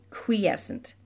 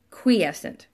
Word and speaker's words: quiescent: e SC ENT quiescent and it doesn't look like it sounds it looks like quiescent but it's qui quiescent so just take the oh thank you go ahead and take the cue uie and turn it into KW EE quiescent okay and again being